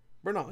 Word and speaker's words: Bernal: Bernal, yeah, okay, I nailed it.